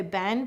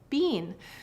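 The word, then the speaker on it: been: dialect so for example we have the word Ben in standard US dialect we say Ben but eou e always says e and the reality here though is that if you go north a little ways to Canada or if you go to the UK people say Bean so this is an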